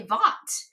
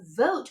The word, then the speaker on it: vote: If the E wasn't there, it would say vot. Okay, but it says vote because it has that magic silent E on the end.